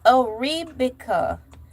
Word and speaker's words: Arabica: How do I pronounce Arabica coffee? All right. I need it's Arabica.